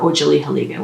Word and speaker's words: otsaliheliga: know we are grateful or oh Julie haliga which is how you say we are grateful in Cherokee and then there are